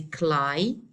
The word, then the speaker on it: climate: It is a climate. Okay, so simply this word is a noun. It consists of two syllables. The rule for this word says that we have to stress the first syllable.